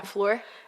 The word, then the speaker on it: Fleur: Yeah, Fleur.